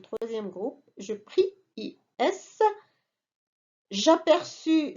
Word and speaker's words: aperçus: J'aperçus, c'est le verbe apercevoir, avec US et CCD pour prononcer le C.